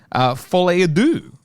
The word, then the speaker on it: Folie à deux: I went and saw Joker 2, Folie à Deux.